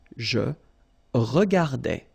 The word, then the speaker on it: je regardais: So that's the full form that you will have, and then you will pronounce it je regardais.